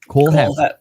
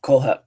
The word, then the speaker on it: Kohlhepp: Todd Kohlhepp. Kohlhepp.